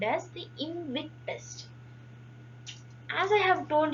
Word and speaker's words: IMViC: be called as the invic test. As I have told you earlier, it is the combination of four test indolus procar and citrate test. The small I is used generally for the pronunciation purpose.